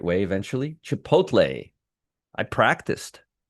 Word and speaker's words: Chipotle: See, I told you I'd be able to pronounce pronounce it the right way eventually. Chipotle.